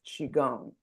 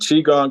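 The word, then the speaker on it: qigong: to do that and and you've been practicing Chong for how long much more efficiently and how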